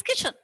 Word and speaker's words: kitchen: So when you write, don't forget to write the letter T, because when we sound the word as a whole, T is silent over there. Not okay. It is kitchen.